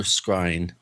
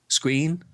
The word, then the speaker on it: scrying: I know one thing that you've been doing quite a bit lately is black mirror scrying. Screen? How do you say that word? Scrying.